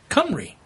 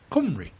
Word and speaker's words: Cymru: to the fact that most words aren't pronounced as they look, and this one is no different. There is an online pronunciation dictionary where you can hear it pronounced by a native, but basically it's Cymru. Spoken with a British accent.